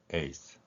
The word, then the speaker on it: yeas: yeas, 찬성표라는 의미를 갖지요. 이 소리는 yea가 a로 발음되고요.